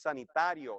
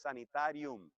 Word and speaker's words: sanitarium: El problema con sanitarium es que en español es muy parecida a la palabra sanitario, pero no es sanitario, es sanitarium. Si lo pronunciamos correctamente, no hay confusión.